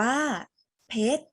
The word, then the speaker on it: เพชร: มา คำ สุด ท้าย มี รอ เรือ อยู่ หลัง ตัว สะกด แต่ ไม่ ออก เสียง รอ เรือ คำ นี้ อ่าน ว่า เท็จ อ่าน ว่า เพชร ถูก ต้อง เพชร นะ คะ เป็น